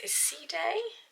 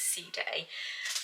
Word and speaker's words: Side: the Paloma parisia in I think you pronounce ceday it's spelled as inside but I'm pretty certain they pronounce is C day um now the if